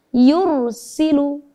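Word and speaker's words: يرسل: Sama kata yursilu. Yursilu. Bisa diperhatikan ya, sedikit memoncongkan bibir. Yursilu. Seperti itu.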